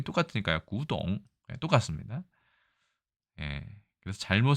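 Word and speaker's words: 古董: 있지만 현대 중국어에 의하면 이 고와 골 모두 구라고 해서 성조까지 완전히 똑같습니다. 그래서 일부 중국 사람들이 이거를 발음만 듣고 였는지 모르겠지만 이거를 뼈 골자로 써서 어차피 발음이 똑같으니까요. 구동 똑같습니다.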